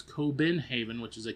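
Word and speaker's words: København: for Copenhagen as we call it and it's coenhaven which is a k o ben h a ven.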